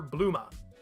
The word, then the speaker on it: Bulma: I've called this character bluma it's a bloomer with the last sound cut to me that's still